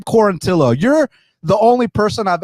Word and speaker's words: Quarantillo: But yeah, Quarantillo, you say it great.